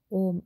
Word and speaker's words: Om: loudly softly or mentally the word um it is pronounced om surround yourself with the